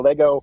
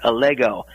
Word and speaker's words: Allego: president and co-founder uh you did have the name pronounced correctly it's allego allego uh is actually the Latin word for allegory allegory being a short